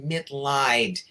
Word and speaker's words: Mitleid: The last name is pronounced Mitleid, and that's because it's a chosen last name. It's German.